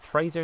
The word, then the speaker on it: Fraser: Fraser is how you say it.